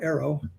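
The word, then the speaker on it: AARO: The other thing is when she makes a statement like that about arrow, that's how we pronounce the acronym now, arrow.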